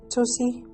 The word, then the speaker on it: Tocci: Is this correct pronounced, Tocci?